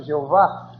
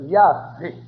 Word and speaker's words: Yahvé: Os hebreus chamavam o Uno Yahvé, falsamente pronunciado Jeová. A pronúncia verdadeira deles era Yahvé.